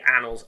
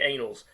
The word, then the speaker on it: Annals: But just to warn you, if you ever if you're ever talking about this stuff, it is definitely pronounced the Annals, not the Annals.